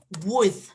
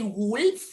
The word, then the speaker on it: would: contraction of the auxiliary would. Okay, the pronunciation, you never pronounce the L. You don't say would, like never, would.